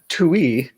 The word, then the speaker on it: Tui: Like, Oh, I get a lot.